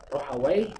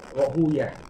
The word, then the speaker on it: Rahawayh: Kebanyakan ahli hadis membacanya dengan Rohuyah ya, karena kalau dibaca Wai, Rohawai, Wai ini menurut sebagian mereka adalah nama syaitan atau nama iblis, sehingga mereka menjauhi penyebutan Wai, sehingga bacanya Rohuyah ya, Ishaq bin Rohuyah.